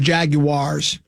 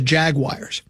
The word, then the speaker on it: Jaguar: So maybe it's in a promo that says Jaguars. It's not Jaguar either. It's Jaguar. That's how it's pronounced. That's the correct pronunciation.